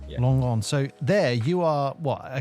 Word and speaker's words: Langon: I don't want to mispronounce it. Yourself of It's southeast of Bordeaux, Langon. Yeah. Langon.